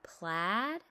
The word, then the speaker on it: plaid: It says A as in plaid.